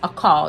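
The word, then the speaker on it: אכל: yeah it comes to a net word means a call a-k-a-l which is a call that's how it's pronounced it means to eat get this that's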